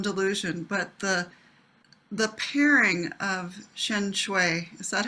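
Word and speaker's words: Shenxiu: is my own delusion, but the pairing of Shencho, is that how you say his name?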